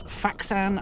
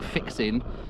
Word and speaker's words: Fixin: is not jeev shamban this is faan I think it's pronounced it looks like fixin and it is the